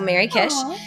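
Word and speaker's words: Merry Kish: Instagram, Blue Sky, uh, under my name, but it's spelled M E R R Y K I S H. So, Mary Kish.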